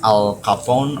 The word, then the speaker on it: Al Capone: I don't know cara pronounce Al Capone or Al Capone.